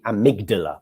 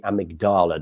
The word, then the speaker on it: amygdala: in the brain called the amygdala or the amygdala depending on how you want to pronounce it that this is